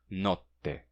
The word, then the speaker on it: notte: O som de K foi assimilado pelo T e, assim, nocte se tornou notte, com um T duplo, porque o som de K, como eu disse, foi assimilado pelo T.